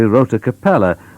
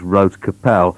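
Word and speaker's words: Rote Kapelle: and told me that I'd mispronounced their name, which appears to be Rota Capella, but they said no, it's not like that at all, it's just Rote Capel.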